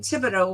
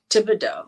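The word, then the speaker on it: Thibodaux: there's a couple in Tibido which is further in so tiido I like the way that's it doesn't sound like it's spelled but nothing here uh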